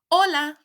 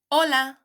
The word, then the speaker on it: hola: on please note that the letter H which in Spanish is called Ace is a silent letter therefore we write it down when writing but we don't say it out loud this is a silent